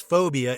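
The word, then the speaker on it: 4bia: transpired six phobia 2008 this thae film pronounced as phobia is another foreign language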